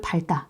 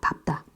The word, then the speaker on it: 밟다: 그니까 밥다 오 다요 밥이 맞습니다 많이 잘못 발음하고 있는 경우들이 되게 많죠 여기를 발 여기를 밥다 이렇게 되는데 여기를 밝다 이렇게 잘못 바른는 경우들 있는데 사실 밟다가 맞습니다 밥다 자 그리고이 바다가 다른 말과 결합 아 널다가